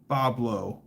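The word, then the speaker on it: Bob-Lo: Boblo, proper pronunciation.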